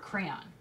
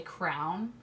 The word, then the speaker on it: crayon: I thought of another word, crayon. Because a lot of people say crown.